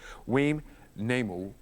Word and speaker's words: Weam Namou: I just have to look down because I definitely want to make sure I pronounce the name correctly. Weam Namou.